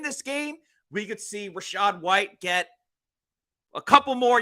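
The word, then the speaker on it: Rachaad: Devin Tomkins and Joe even though it's spelled incorrectly Rashad Rashad is r a c h a a d but I agree with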